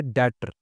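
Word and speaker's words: debtor: मतलब होता है कर्जा अभी डॉप्टर हम लोग यूज इसे प्रोनाउंस करते हैं लेकिन इसका सही उच्चारण है डटर डटर यानी कि कर्जई इसका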